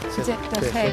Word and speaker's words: Cheptegei: Joshua Jeptegei. Y perdona. Jeptegei. Molt bé, saps pronunciar el cognom.